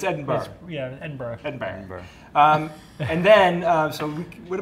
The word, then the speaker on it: Edinburgh: We're going to Edinburgh. Edinburgh. Not borough, borough. Borough. And not Berg, because it's spelled Edinburgh. Yeah, but it's Edinburgh.